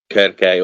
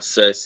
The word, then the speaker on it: Kirke: Obviously, you can't have Medea and not have Kirke or Circe, as most Westerners would pronounce their name.